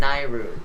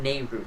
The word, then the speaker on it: Nayru: Feroor, and Nayru. Not Nehru. Nobody says Nehru, so it's Lenairu.